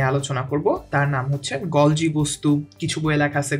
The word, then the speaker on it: গলজি: যে অঙ্গনটি নিয়ে আলোচনা করব তার নাম হচ্ছে গলজি বস্তু কিছু বই লেখা আছে গলগি বস্তু তো যেভাবেই হোক উচ্চারণটা মূলত আমরা এখানে হচ্ছে গলজি বস্তু হিসেবে উচ্চারণ করব আচ্ছা এখন গলজি বস্তু